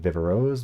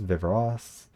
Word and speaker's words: Viveros: are a lot of people who are like is it vivaros vivros s because it is a Spanish word some people pronounce it properly the word should be pronounced but I don't pronounce that way because like it's an English speaking person who does not have the accent it would come across a little bit pretentious if I tried I did take Spanish